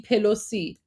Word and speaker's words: Pelosi: Guys, we have the letter P in Persian, so it's Nancy Pelosi. That's how it's pronounced. Yeah, we have P sound because Persian.